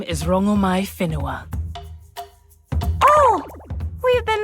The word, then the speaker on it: Rongomaiwhenua: My name is Rongomaiwhenua. Oh! We've been mispronouncing you the whole time.